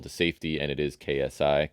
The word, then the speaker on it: KSI: Logan Paul to safety, and it is KSI. Kasai, I would have said if you didn't tell me it's just the name, the letters.